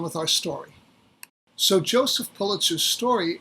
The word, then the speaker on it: Pulitzer: pronounce the name and the correct way to pronounce the name is pulitzer we know this because of comments that were